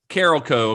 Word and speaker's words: Carolco: like Carolco or Carolco, it's Carolco, according to everyone that I've heard say it. I didn't know for years how to say it until I was watching behind the scenes on this, and it's apparently Carolco. Carolco.